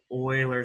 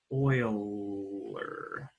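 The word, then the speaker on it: Euler: going to talk about Oiler number Oiler number it's spelled uler but it's pronounced Oiler one who oils uh the oiler number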